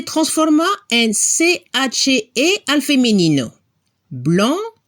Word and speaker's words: blanc: Blanco, blanca. En francés se dice blanc, blanche. Cambiamos la letra C por CHE. En este caso la pronunciación es diferente. El masculino no se pronuncia la C al final, blanc.